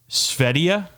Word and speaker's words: Sverige: I don't know if they use G's over there, though I do know that they spell their country Sverige, and it's pronounced Svedia.